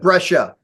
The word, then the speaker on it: Brescia: Brescia? How do you say that? You got it. Brescia.